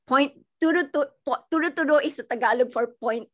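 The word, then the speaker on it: turo-turo: And that's called the, sorry, I'm going to mispronounce. Turo, turo.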